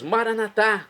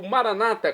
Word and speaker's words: maranata: E agora eu clamo do aramaico, dialeto de Jesus, maranatá, como dizemos nós católicos, ou maranata, como dizem nossos irmãos das comunidades evangélicas ou protestantes. Não importa a pronúncia, o significado é o mesmo.